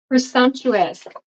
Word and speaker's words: presumptuous: this squ right here presumptuous presumptuous so that's how you say it um presumptuous you kind you'll kind of hear that it makes it more of a c kind of sound um especially in and